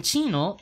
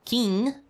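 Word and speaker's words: Qin: japonés es I con k vale pero en chino q I se pronuncia chi por ejemplo la dinastía King q i n G en realidad es la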